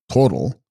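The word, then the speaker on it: spros-bral: Text: Sprosbral, pronounced total, devoid of formative activity, i.e.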